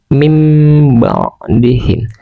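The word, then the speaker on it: مِنْ بَعْدِهِمْ: Tulisannya min ba'dihim. Min ba'dihim. Cara membacanya mim ba'dihim. Mim ba'dihim.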